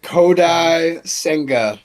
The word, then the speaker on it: Kodai Senga: I hope I pronounced this right. Okay. Kodai Senga.